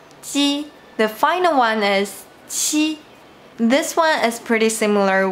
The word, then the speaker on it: qi: And you might notice that the only difference is that qi has an extra symbol h. This small h means that when you pronounce this sound, you need to exhale more strongly.